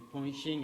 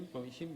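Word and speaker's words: 본심: ese corazón original, el Ponshin, en coreano se pronuncia así, Ponshin, Benshin, creo, en chino,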